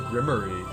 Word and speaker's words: grimoire: it the town of grimoire what in the human empire it's pronounced the grimmery uh british comedy show